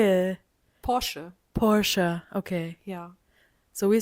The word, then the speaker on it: Porsche: It's Porsche. Yeah, okay. How do you say it? Porsche.